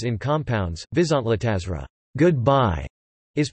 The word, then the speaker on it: viszontlátásra: Primary stress is always on the first syllable of a word, as in Finnish and the neighboring Slovak and Czech.